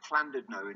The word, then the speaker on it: Llandudno: It's pronounced Llandudno in Welsh.